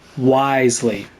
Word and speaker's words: Wriothesley: the Fortress Risley he's a very shrewd fellow wisely okay so that's how you pronounce his name wisely got it yeah we heard about him too